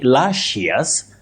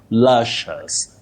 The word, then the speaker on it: luscious: It's also wrong to say lashious. You say luscious. Shus. The i not pronounced. Lushus.